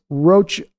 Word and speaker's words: Rocha: It's Spanish pronounced, see, I just did it right there. It's Rocha. He always pronounces it like the word mocha, though.